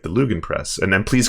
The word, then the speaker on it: Lügenpresse: Is it Lügenpresse or is it some? It's Lügenpresse. Lügenpresse. All right. So, but I know a lot of English speakers have like trouble with the R-A-E-U-U pronouncing. Oh, okay. Well, those ones. But like that's pretty close.